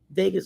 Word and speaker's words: vagus: The vagus nerve. Vegas. Oh, like Las Vegas.